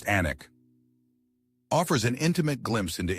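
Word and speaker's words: Alnwick: This charming border town, pronounced Anic, offers an intimate glimpse into English history while serving as gateway to some of Britain's most spectacular and unspoiled countryside.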